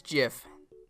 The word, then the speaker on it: GIF: It's GIF. Like the peanut butter.